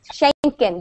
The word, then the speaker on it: Schengen: And there's like Schengen, that's how you say it, Schengen visa.